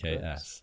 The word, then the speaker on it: Reks: Yep, Reks. Yeah, thank you for clarifying that. Yeah, no problem. I was struggling with it whenever I first saw it. I was like, I know it's pronounced Rex, but like, yes.